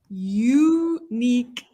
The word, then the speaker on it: unique: I have a unique fingerprint. Not it's y. So it's a consonant sound.